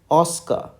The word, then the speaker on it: Oscar: saying the word Oscar you have to say Oscar Oscar Oscar okay so that is